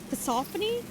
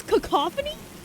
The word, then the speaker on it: cacophony: I'm not sure if I'm pronouncing it right. Cassophony. Cac. I don't think it's cacophony. Cuz cassophony. I'm searching this up so don't be stupid. Um, it's cacophony. Sorry guys. It's cacophony.